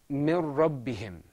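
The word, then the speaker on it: مِن رَّبِّهِمْ: Whenever you've got any one of these two letters, there's no ghunnah. Okay, excellent. Let's move on to our next example. This is pronounced mir rabbihim.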